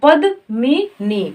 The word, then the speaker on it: पद्मिनी: पे प है द अब म में छोटी की मात्रा का उच्चारण करेंगे तो मी हो जाएगा तो पद मनी पद्मिनी तो यहां पर प